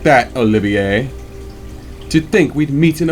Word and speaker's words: Olivier: And no, it's not Olivier. No, it is not Olivier. It is Olivier. The R is silent, because this alias he is using is of French origin.